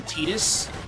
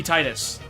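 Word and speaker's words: Tidus: And uh I will never ever submit to his name being Tetus. Titus sounds way better because it has Tide in the name, which is a water thing.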